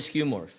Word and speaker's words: skeuomorph: What is a skew morph?